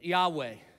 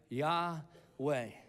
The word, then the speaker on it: Yahweh: the way it's pronounced Yahweh it was supposed to sound like breathing Breathe In Breathe Out yah way and God tells Moses